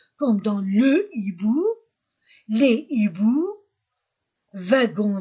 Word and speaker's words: hiboux: Je ne dis pas les hiboux. Je ne fais pas liaison. Avec un H aspiré, je ne fais pas de liaison.